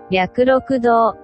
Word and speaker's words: 白鹿洞: 仏日庵のすぐ上に、白石か、と書いて、白鹿洞という洞窟があります。